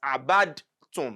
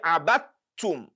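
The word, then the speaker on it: عبدتم: And that is why we are not going to pronounce as abadtum. No. We say abattum, abattum, abattum, as if there is no dal there at all.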